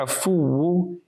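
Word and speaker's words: عفو: Ya afu, ya afu, ya afu. Sweet and short. With an ayn, afu. Ayn, remember the makhraj, the sound emanates from the center of the throat. So we must pronounce it correctly.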